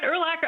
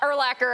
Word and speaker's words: Urlacher: She was like, nah, Urlacher, I don't even care if it rhymes with linebacker.